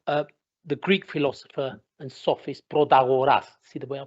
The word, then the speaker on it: Protagoras: And what I'm reminded of the Greek philosopher and sophist Protagoras. See the way I pronounced it?